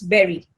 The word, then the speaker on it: bury: Next bur y which means for example Christians bury their dead, Muslims bury their dead say bur but the pronunciation is bur like you say strawberry raspberry. So it's berry.